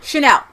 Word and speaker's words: Chanel: You know, Chanel. Chanel.